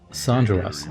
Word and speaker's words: Sargeras: Well, it's pronounced Sargeras.